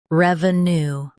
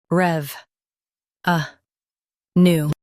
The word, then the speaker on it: revenue: rev uh new revenue Stress rev and keep a new smooth.